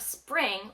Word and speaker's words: spring: So you want to start the pronunciation of spring with the SPR consonant blend.